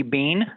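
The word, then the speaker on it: Beene: repeat your name deputy sure it's deputy bean and that's spelled be as in boy e-e-n-e i've been at the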